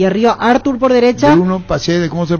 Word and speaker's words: Praxedes: Bruno Praxedes, ¿cómo se pronuncia?